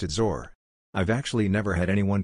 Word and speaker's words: XOR: is right this way I've always pronounced it zor well in my head I pronounced it zor I've actually never had